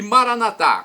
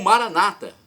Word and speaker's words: Maranata: E Maranatá, como dizemos nós católicos, vinde Senhor. Ou Maranata, como dizem nossos irmãos separados, os evangélicos ou protestantes. Não importa a pronúncia.